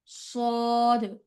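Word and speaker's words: صاد: scene শিন সদ সদ সদটা মোটা হবে একটু মোটা হবে সদ সদ আবার সদ সদ সদ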